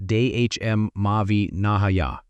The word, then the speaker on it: dhamma-vinaya: He called it dhamma vanaya, pronounced dehm mauvi nahaya.